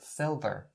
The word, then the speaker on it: silver: the outside in the middle of the word silver silver so the outside right there native speakers